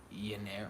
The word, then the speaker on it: Rio de Janeiro: I think it's actually Janeiro. I think the J is the J is a Y. I think it's actually Janeiro.